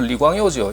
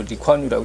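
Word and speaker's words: 李光耀: 무슨 얘기냐면 그 싱가포르 일으킨 인물은 그 리콴유라는 분인데, 이 중국말 리광요죠. 이 한국에서 그 홍콩식 발음을 해서 뭐 리콴유라고 하는데, 이분이 화인이죠.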